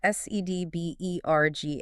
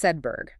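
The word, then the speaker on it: Sedbergh: It's pronounced Sedberg. It retains the hard G sound and the R sound, almost like Sedberg.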